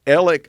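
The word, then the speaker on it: Alex: is exactly how you say it yeah that elic uh ellick owned the boat and so the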